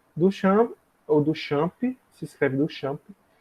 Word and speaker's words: Duchamp: eu vou falar muito dele hoje, que é Duchamp. Duchamp, ou Duchamp, se escreve Duchamp.